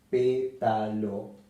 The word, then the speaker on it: pétalo: Pétalo, y se acentúa en la antepenúltima sílaba. Pétalo. Y siempre lleva tilde.